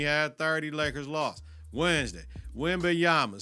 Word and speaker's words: Wembanyama: Wembanyama. Say his name, Wembanyama.